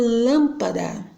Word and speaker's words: lâmpada: Porque fica muito fácil você ver uma palavra, por exemplo, lâmpada. Lâmpada, eu tenho a antepenúltima sílaba, né?